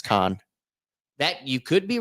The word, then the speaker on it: Cannes: Yeah, but I think the f French pronunciation is con that you could be right in that.